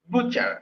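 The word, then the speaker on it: butcher: তো এই কসাইয়ের ইংরেজি বাচার। বুচার। হ্যাঁ, এটার প্রোনাউন্সিয়েশনটা এরকম হবে, বুচার।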